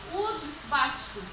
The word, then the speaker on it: উদ্বাস্তু: উদ উদ একটা উপসর্গ, এই উদ উপসর্গের সাথে বফলা যুক্ত হলে কেমন হবে এই তোমার উচ্চারণ, বয়ের উচ্চারণটা কেমন হবে, সেটার ক্ষেত্রে বয়ের উচ্চারণটা বহাল থাকবে, অর্থাৎ বয়ের উচ্চারণটা বজায় থাকবে।